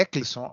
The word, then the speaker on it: Eclisson: Não, não é Edson, não, é Eclisson. Acho que eu pronunciei o nome do colega errado.